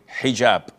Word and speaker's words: hijab: What you're referring to is hijab with an H. And I know in France they don't pronounce the H when it is in the beginning of the word, as in hotel or hello.